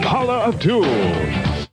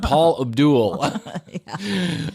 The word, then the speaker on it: Paula Abdul: She was in on the party line, but he can't even say her name right. He said Paul Abdul.